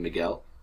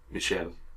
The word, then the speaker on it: Michel: is that uh uh Christina always pronounces his name Miguel the the the Spanish pronunciation of Michael uh whereas his name is Michelle uh the French pronunciation of Michael yeah but Michelle sounds